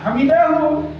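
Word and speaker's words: حمده: Imamnya membaca Sami Allahu liman hamidahu. Nah, hamidahu aslinya, tapi boleh disebutkan Sami Allahu liman hamidah.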